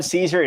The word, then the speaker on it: Cesare: If my name's on the screen, it's Adam Cesare. It's pronounced like the salad, but it looks all weird in Italian.